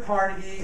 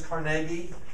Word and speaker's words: Carnegie: gospel of wealth andrew carnegie or you see you hear sometimes is carnegie all right depending on what area of pennsylvania you're from it's how you would pronounce it uh up there again